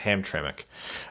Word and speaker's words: Hamtramck: haven't seen that word before but apparently it's pronounced Hamtramck perhaps someone should make a Hamtramck pronunciation guys